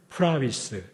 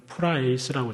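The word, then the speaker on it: πραΰς: 이 프라우테스의 형용사형이 프라위스 또는 프라에이스라고 저희가 발음하는데, 이 프라위스에 대해서는 저희가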